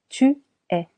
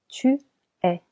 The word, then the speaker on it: es: Je suis Tu es Tu es here the letter S is silent.